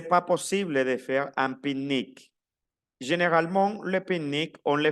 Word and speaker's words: pique-nique: Attention à la prononciation. Pique-nique. Un pique-nique. L'écriture pique-nique.